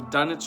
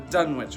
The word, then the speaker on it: Dunwich: today so we're gonna talk today about the dunnage horror or the Dunwich horror depending on how you want to pronounce it in this movie they pronounce it the Dunwich horror so why is this one special well